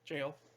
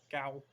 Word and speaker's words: gaol: So they kind of drag them off back to the government area, back to the jail, technically how it's pronounced, Gaol, jail, Gow, if you want.